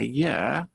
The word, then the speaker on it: year: quite a lot a year or an ear so the first thing to notice is that one is ah the other is an which tells you ear starts with more of a vowel sound so be careful to